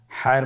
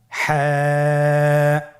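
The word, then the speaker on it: ح: হা হরফটি উচ্চারিত হবে কণ্ঠনালীর মধ্যখান হতে। গলা চিপে ধরে আপনি উচ্চারণ করুন। আপনারা আমার সাথে বলুন হ্যাঁ।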